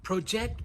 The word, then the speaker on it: project: Also, make sure you're pronouncing the J sound.